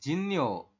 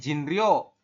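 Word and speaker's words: 진료: Kemudian yang bawah adalah Jinyo. Artinya adalah pengobatan. Tulisannya Jinryo, dibacanya Jinyo.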